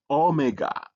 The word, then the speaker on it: omega: the last letter is omega. Omega is written like this and the capital is written like this but it's a O sound like O. or a long o like o in tone.